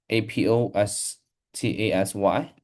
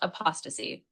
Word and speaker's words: apostasy: the church after hundreds of years of opc a p o s t a s y yes that's right that word is pronounced apostasy like apostasy it basically means a period was